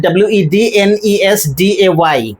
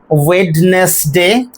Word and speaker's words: Wednesday: pronounce this word as wness day which is incorrect. Then in order to get the correct pronunciation of this word we have to drop the consonant d.